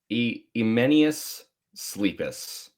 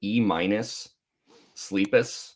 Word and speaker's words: Emenius Sleepus: Emenius Sleepus. It is Yeah. funny because I remember being younger and just calling it E minus Sleepus.